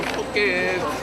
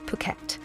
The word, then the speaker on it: Phuket: I'm going to Phuket. Bye-bye. Good times. Sadly though, he missed the memo that it's pronounced Phuket.